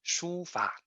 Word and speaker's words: 书法: In Chinese, the pronunciation is 书法.